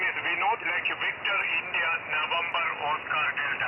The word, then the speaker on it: Vinod: My name is Vinode.